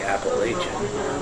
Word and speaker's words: Appalachian: in Iowa and Nebraska, I know we say Appalachian. However, here in Appalachia, they say Appalachia, and they're adamant about such a thing, so they're the Appalachian Mountains.